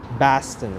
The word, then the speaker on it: Boston: to remember that downtown boston baston right now boston v-a-w that's how you pronounce it in the bostonian accents so i don't